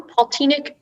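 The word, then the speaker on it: poltinnik: uh it's a noun paultinic is the only pronunciation sorry i started giving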